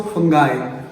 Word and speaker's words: fungi: American में इसको फंगाई और ब्रिटिश इंग्लिश में इसको फंगी पढ़ते हैं, बट कॉमनली कुछ लोग इसे फंजाई भी बुला सकते हैं।